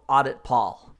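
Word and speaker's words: auditpol: server is a tool called audit Paul which is spelled Audi Pol and the extension is an executable.exe so we'll type in audit Paul press enter and that's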